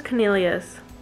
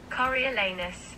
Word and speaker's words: Coriolanus: So I thought it was Cornelius. Is that how Cornelius is spelled? I'm gonna Google how to say his first name. Coriolanus.